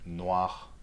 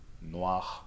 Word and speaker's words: noir: And it's not that hard in many words, like noir, noir. See, for black, right? Noir. You see, it's barely pronounced at the end of words, usually.